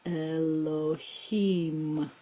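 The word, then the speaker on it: אלהים: it sounds like hmm so the word is Elohim that's the first word the second word has this open in all direction silent letter with this vowel which sounds like yeah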